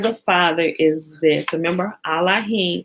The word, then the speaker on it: Elohim: father is this remember allahing is the proper pronunciation of Elohim right remember there is no e in Hebrew so when they when